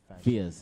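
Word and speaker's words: Pheus: But Is there a specific spelling for the yes, Fierce? it's P-H-E-U-S. Okay, cool. It's not spelled like the Fierce Like in Sasha English.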